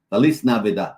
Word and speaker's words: Feliz Navidad: Feliz Navidad.